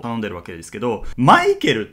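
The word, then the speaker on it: Michael: もたくさんあって例えば英語だとま男性がマイケルで女性がミシェルフランス語は男性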